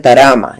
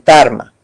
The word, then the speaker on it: Tarma: Y entonces ellos no dicen Tarma, sino decían Tarama. Entonces por eso es que aparece este término constantemente en la documentación. Pero cuando se va más al sur, los que hablan el quechua sureño dicen Tarma.